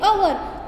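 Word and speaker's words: hour: फिर नेक्स्ट क्या आएगा, एन अवर, तो मैंने आपको बताया कि अवर में जो एच है वो साइलेंट है, तो उसके आगे हम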